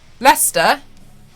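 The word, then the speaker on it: Leicester: you can't really talk there's this weird tube stops in London where you all don't pronounce half the word Lester like that's a trap what did you call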